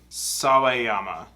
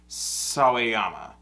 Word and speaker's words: Sawayama: name so i know how to say it sawayama thank you is it going yeah damn it